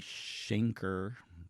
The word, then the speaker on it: Schenker: And like I said, she was fortunate, this particular lady, Schenker, that's how you say her name, she was